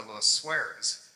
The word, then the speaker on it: Le Sueur: just start with the Le Sueurs. Le Sueur is actually a Belgian name, I believe, L-E-S-U-E-U-R, but they pronounce it as if there was a W in it, so it's called Le Sueur Creek.